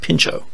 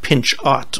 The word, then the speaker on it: Pinchot: the conservationists and gifford pinchot yes it looks like pinch art but he said the names pronounced pincho the conservationists they were